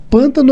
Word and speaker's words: pântano: Vamos falar pântano ou pantano? Não, o pântano é o correto, o português correto, mas o pantano é a tradição, é a raiz, é aquilo que tem que ser preservado, né?